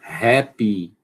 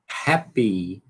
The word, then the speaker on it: happy: Como é que a gente pronuncia? Happy. Não. Happy.